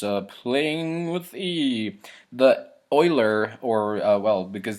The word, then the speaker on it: Euler: playing with the the oiler or well because that's how it's pronounced in German but the erer um